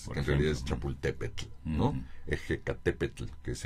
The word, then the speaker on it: Chapultepec: Que no lo podían pronunciar bien, entonces le quitan la TL y le ponen una C, un sonido Como K, ¿no? Chapultepec. Así es, por en realidad es ejemplo. Chapultepetl, ¿no?